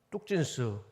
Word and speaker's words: 뚝진스: 오늘 우리 달란트 대회에 나오셔서 어떤 분들은 찬양도 하고 암송도 하고 또 우리 뚝진스 어떤 분들은 뚱진스라고 하는데 정확하게 발음을 뚝진 율동도 하고 그런 달란트를